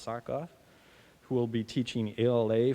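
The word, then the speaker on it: Tsakoff: hired this week alexander it's an unusual name t-s-a-k-o-f-f spelled our pronounced sock off who will be teaching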